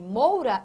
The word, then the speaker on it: moura: Agora pronuncie a palavra moura e perceba que entre o O e o U, qual desses sons é mais nítido na sua pronúncia? Moura, moura. Veja que moura, o som do O, ele é mais nítido do que o som do U.